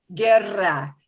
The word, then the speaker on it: guerra: k and key right this is g-u-e and g-u-i the u is there to be silent it's there to push the g back into a hard g sound so it'll sound like